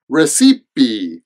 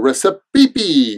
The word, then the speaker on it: recipe: Now, I know that the spelling of this is a little bit weird, and it kind of looks like recipe or recipe or something like that, but there are 3 syllables.